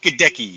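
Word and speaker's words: Goedeke: How do you pronounce his last name? Gadecki? Luke Gadecki, yes.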